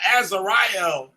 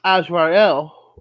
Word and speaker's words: Azrael: It said Azariel as being Twasi Malik for governing Sunday. Yeah, but it's actually pronounced Azrael, which is actually called the angel of death, which is kind of I don't know.